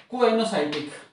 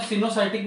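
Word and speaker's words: coenocytic: था पिछले वीडियो में, उसको बोल सकते हैं क्वेनोसाइटिक। कुछ प्रोनाउंसिएशन में सिनोसाइटिक भी बोला जाता है, पर आप इसको दोनों से कोई भी समझ लें।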